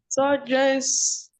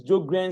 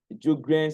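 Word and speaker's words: Sjögren: Surges syndrome. What? Sur the S is silent. Let me let me type it in the chat box. Okay. The S is silent. Okay. Uhhuh. So it is Joan syndrome.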